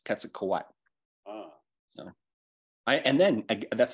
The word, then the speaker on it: Quetzalcoatl: of a NASDAQ word and it ends with that TL like Quetzalcoatl that's not all it's quetzukowai so I and then